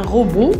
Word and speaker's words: robot: Beau, un robot. Le T ne se prononce pas. C'est une lettre muette.